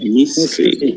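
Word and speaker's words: mystery: ভাত খানে ভাত খাইনি একইভাবে পরেরটা আমরা ই উচ্চারণ করবো না হবে মিস্ট্রি সবাই মিস্ট্রি এবার পরের রোটাতে আমরা আসি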